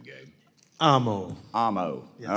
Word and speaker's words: Amo: Amo.